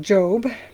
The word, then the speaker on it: Job: Um, spelled Job, Jo O B, but it's pronounced Job.